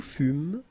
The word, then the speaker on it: fûmes: Je fus, tu fus, il fut, elle fut, nous fûmes, vous fûtes, ils furent, elles furent.